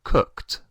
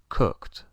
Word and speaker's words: cooked: letras un poco diferente suena más como una t que una d pues decimos i cooked i cooked y es por el